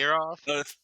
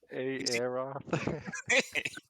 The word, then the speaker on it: Aeroth: Hey, Aeroth? That's how Volknar pronounces his name because he's not very smart either. But Aeroth.